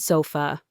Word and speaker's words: sofa: It's the sound at the end of the word sofa. Sofa.